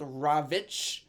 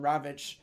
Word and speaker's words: Rawitsch: um for the German in German it was called ravich and it has the same pronunciation ravich in Polish different spelling and this